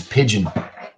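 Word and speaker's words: Pijn: like it is a matter of time, is Pigeon.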